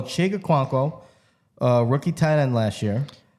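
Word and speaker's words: Chig Okonkwo: I really love um I got to make sure I say his name right is chick chick I'm just gonna say chick because they call him chick oh cuanko who's there Titan you got that right so chica cuanko uh rookie Thailand last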